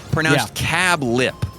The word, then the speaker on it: Cabulp: We look forward to dining with you at Cabulp, pronounced Cab Lip, semicolon.